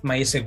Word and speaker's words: MySQL: montería directamente un mysql my Secret directamente lo pronunció a mi forma pero también en inglés porque aquí en España se suele decir mysq directamente pero sé que alguna algunos países de latinoamérica pues pronunciéis mejor sí sí no perfecto porque